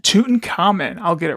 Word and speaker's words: Tutankhamun: Tutankhamun. Tutankhamun.